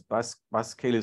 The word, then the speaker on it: baskeli: So it's the first example, there was a sense that it ought to be spelled and pronounced baskeli, which would be the Taveta version, if you like, of the Swahili baskeli, which is closer to the English bicycle.